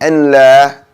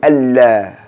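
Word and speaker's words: الله: And probably the most popular one, saying Allah when it should be Allah. Okay? Saying Allah when it should be Allah.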